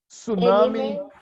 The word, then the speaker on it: tsunami: ami shown a meme tsunami - salami and rickshaw you don't pronounce the T in English as they always tsunamis